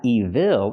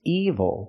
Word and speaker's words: evil: this word evil again it's not evil it's evil the stress is on the first syllable and I can say